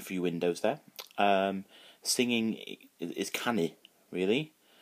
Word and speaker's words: canu: Singing is canu, really. So it's can and C-A-N-U if you see it written down, and that's singing.